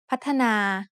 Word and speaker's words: พัฒนา: When you look at the word พัฒนา you might see only two syllables, but it is actually said with three syllables.